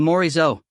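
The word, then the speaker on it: Morisot: and said oh the moris o he pronounced it very French with a good glottal roll of the r ber morizo lafo tolet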